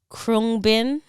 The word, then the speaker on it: Khruangbin: They're a band from Texas called Krungbin.